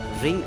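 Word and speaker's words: wring: रिंग आउट the cloth. दोस्तों यहाँ पे W साइलेंट है तो आपको W का वर्ड नहीं लेना है और आपको बोलना है रिंग।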